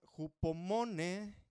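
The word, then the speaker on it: ὑπομονή: La palabra griega para paciencia es la palabra jupomone con acento en la última e y viene de jupomeno, acento igual en la e.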